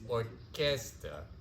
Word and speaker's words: orquesta: Or actually, if you pronounce it like Spanish, it's orquesta. Orquesta.